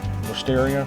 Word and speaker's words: Wisteria: Wisteria rhymes with Def Leppard's Hysteria.